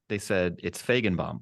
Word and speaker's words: Feigenbaum: I assume I pronounced that right, Feigenbaum. It's close enough. It's close enough. Feigen. When I went to Germany, they said it's Feigenbaum, right? Which is just how you said it.